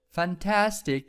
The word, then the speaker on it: fantastic: it is a noun fantastic there is stress here ok so there is stress in the second syllable fantastic okay fantastic next